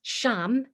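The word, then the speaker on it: ksham: is it again oh sham so it's spelt k s h e m it's pronounced sham because the k is silent and forgive me but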